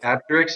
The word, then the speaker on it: Apteryx: Apteryx, yeah.